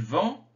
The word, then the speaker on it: vend: vendent alors il vend on ne prononce pas le d mais ils vendent on